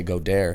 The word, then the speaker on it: Goedert: I say go dare. Goedert.